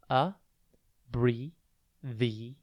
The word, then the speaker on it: abbreviate: TV today's word is abbreviate it's pronounced a BRI the8 and it is spelled a